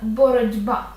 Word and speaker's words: боротьба: з кінця боротьба - це знову асиміляція за дзвінкістю Т перед б дзвінким буде одзвінчуватися і звучатиме боротьба Навіть через оце одне